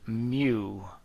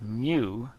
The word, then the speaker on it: mu: this funny symbol pronounced mu. It's a Greek letter, it's pronounced mu, times the normal force.